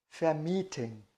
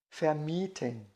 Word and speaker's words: vermieten: É o verbo vermitteln, vermitteln, e do verbo alugar, vermieten, vermieten, tá?